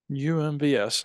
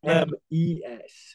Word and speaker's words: UMES: UMBS. All right. Well, we'll keep an eye out. UMES. UMES. Say it correctly.